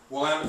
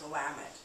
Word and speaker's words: Willamette: three Patricia green sellers 2008 Pinot Noir Reserve Willamette Valley what was the price on this again